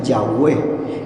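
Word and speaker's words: Yahweh: que así se llame la y h y W H se pronuncia yahwe entonces dice así más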